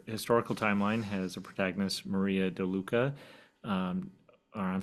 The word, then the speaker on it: Marie: Yeah, so I pronounce her name Mari, although I'm sure many, as they're reading, see Marie in their head.